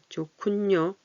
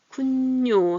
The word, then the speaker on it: 좋군요: 좋군요. 히읗이 기억을 만나면 거센 소리가 나요. 시끄러운 좋군요. 이 발음이 밑에 받침 발음이 위로 올라가서 키읔으로 소리가 나요. 뇨 여기서 쿤뇨 하는데 여기는 좋군요 이렇게 안 하고 쿤뇨에서 니은이 하나 더 들어가죠.